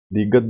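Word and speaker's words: ㄷ: के बाद है दीगत, दीगत दाल की आवाज देता है।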